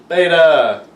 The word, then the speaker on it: beta: And it is pronounced beta.